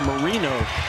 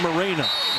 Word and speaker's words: Marino: It's Marino, not Moreno.